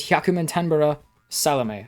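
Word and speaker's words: 壱百満天原サロメ: Plus, who has a really difficult name to pronounce. The name is Hyakumantenbara Salome. I think I said that right. Hyakumantenbara Salome.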